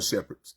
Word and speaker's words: Shepherd: And it's Love your shepherds. S H E P H E R D like shepherd in the Bible or German Shepherd, right?